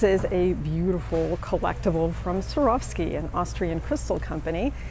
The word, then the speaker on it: Swarovski: go skiing anymore so you swore off skiing and that would be an easy way to remember how to pronounce it Swarovski of course in German it's swarovsky I found some great